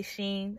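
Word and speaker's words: Shein: live give them love i think they pronounce it she in i say sheen i got off of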